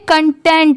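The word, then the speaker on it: content: जैसी नहीं होती बेसिकली सी की तो बहुत बार चेंज होती है कभी क की आती है कभी स की आती है ऐसे बदलती रहती है इसलिए आप प्रैक्टिस हमेशा करते चलिए यह कंटेंट है सी ओ एन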